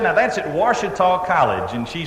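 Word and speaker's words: Ouachita: Now, you really spell it O-U-A-C-H-I-T-A, Washita.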